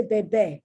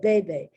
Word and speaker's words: bebe: Now, I didn't say bebe because bebe means baby. I said bebe, where the accent is on the first E.